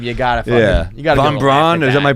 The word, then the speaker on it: von Braun: If your town's known for the Nazi museum, you gotta fucking, you gotta Von Braun. Is that my pronouncing it right?